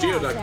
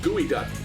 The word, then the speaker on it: geoduck: Has the power to It is not pronounced Geoduck. It's pronounced gooey duck.